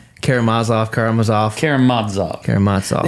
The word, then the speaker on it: Karamazov: still get it right karamazov karamazov Kad Kad it's the ne it's the penultimate syllable that's emphasized in Russia not that I really